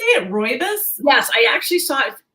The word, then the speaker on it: rooibos: tea oh is that how you say it rooibos yes i actually saw it and i remembered